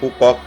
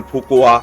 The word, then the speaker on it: Phú Quốc: উচ্চারণ করা একটু কঠিন কেউ বলেন পুপক কেউ বলেন ফুপুয়া এরকম বিভিন্ন রকম আছে যাই হোক আমেরিকানরা যে নামটা বলে আমরা সে নামটাই বলছি পুপক জায়গাটি অসম্ভব সুন্দর এবং